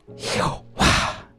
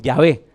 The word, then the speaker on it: Yahvé: ¿Y cómo se pronuncia? Jehová. Así es como se pronuncia. Ah, no, perdón, Yahvé.